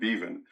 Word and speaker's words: Beaven: Mark Jameson and Amy Beavenon. Uh or excuse me, I think she pronounces her name Beven. Uh Amy Beaven.